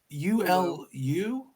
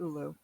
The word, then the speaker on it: Ulu: So, am I pronouncing this right? Ulu? U-L-U? Yes, you're Ulu.